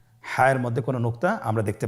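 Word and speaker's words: ح: হা হরফটি কীভাবে উচ্চারিত হবে? হা হরফটি উচ্চারিত হবে কণ্ঠনালীর মধ্যখান হতে। গলা চিপে ধরে আপনি উচ্চারণ করুন। আপনারা আমার সাথে বলুন হ্যাঁ। আবার বলুন হ্যাঁ।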